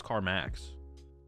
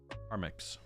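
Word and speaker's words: Carmex: balm uh carix carix I thought it was carax carix that's how you pronounce it it's the only stuff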